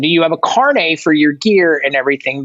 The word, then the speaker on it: carnet: a carne so a Carne is an beef not carne asada it's spelled c-a-r-n-e-t like think of Carnet but be like French and bougie with it incarnate so yeah like